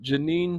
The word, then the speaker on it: Janine: Everybody, I want y'all to look up Janine Chapman. With a J. It's like, Billie Jean. It's spelled like Jean and then EAN again.